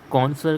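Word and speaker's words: connoisseur: सुलेख, कॉन्सर, कॉन्सर का प्रोनाउंसिएशन जो है लाइक सर से हम कह रहे हैं कौन है सर, तो है पूरा ना के कौन ए कौन है सर, एंड रा भी हमें पूरा नहीं बोलना है, तो कौन है सर।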